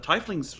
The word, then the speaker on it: tiefling: I'm just following the tiefling's lead. It's pronounced tiefling.